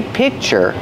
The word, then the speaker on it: picture: it's a little different when I say pi picture I have the C C Sound but I don't release it so it's a stop sound I stop the air I say P I make the position of the K the C but I don't release the C Sound I just make the